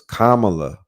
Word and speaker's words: Kamala: and they were like her name is Kamala like Kama you know Kamala and I've been saying